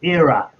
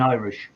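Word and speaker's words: Éire: above the two euro is era which is ireland in irish era okay i would pronounce that too i would have said iri it's it's the euro era era i'm gonna try to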